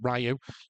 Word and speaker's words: Ryu: We got Andrew Koji as Ryu or Ru or however you want to pronounce it. Rayu.